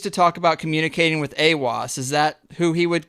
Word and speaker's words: Aiwass: I guess he used to talk about communicating with Aiwass. Is that who he would consider his? Yeah. We pronounce it Aiwass, and it's the entity that he apparently first